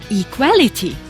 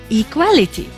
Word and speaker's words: equality: the first level however the third one equality the stress was shifted to the second syllable equality and the last one